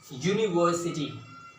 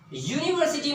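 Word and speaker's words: university: इसे हम पढ़ते क्या है, इसका प्रोनाउंसिएशन क्या है वर्ड का, यूनिवर्सिटी, यूनिवर्सिटी, right, यूनिवर्सिटी। यूनिवर्सिटी में आप ये देख रहे हैं यहाँ पर क्या साउंड आ रहा है, यू, यूनिवर्सिटी।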